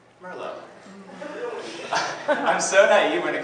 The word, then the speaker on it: merlot: in my life that what i thought was pronounced murloc it's actually pronounced merlot i'm so naive when